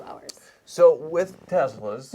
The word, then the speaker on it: Tesla: Can I ask you first, because you pronounce it so Elon, like Tesla. Tesla. and then, you know, Americans are like Tesla. And like, The Tesla. how are you supposed to say it? Whatever you What's the correct want. way? But Yes. Elon says Tesla.